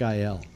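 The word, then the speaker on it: Güell: it but you weren't listening to me Park IL okay L yeah yeah that's how it's pronounced there's Harmon buildings there that he designed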